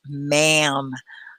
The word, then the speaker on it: ma'am: know that word everyone it's mam i know like yes ma'am or yes sir it was madame they took the d out and they made a contraction i know do you